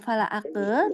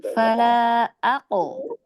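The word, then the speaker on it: فلا أقسم: Jadi jangan fala ake, tetapi qalqalahkan. Fala ako. Kalau doma tetap jadi enggak, dia kan qalqalah. Jadi dibacanya jangan ake, tapi diqalqalahkan fala ako.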